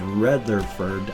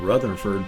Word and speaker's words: Rutherford: that I can remember my name is not rather furred I said it right Rutherford P Parker and the